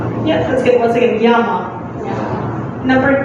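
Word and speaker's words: я: It just means I by itself, but it's pronounced as Ya.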